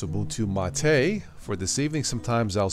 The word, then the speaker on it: Ubuntu MATE: If you're new to all this, I'm running something called Ubuntu Mate, or it's pronounced Ubuntu Mate.